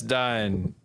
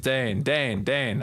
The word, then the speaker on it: deign: Yeah, it's Dine. It's Dane. I got it. It's Daned. Yeah. I got it. I know how to say the word.